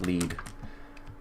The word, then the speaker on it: lead: And the last thing we're going to need is a lead, which is spelled exactly like lead, but it's pronounced lead.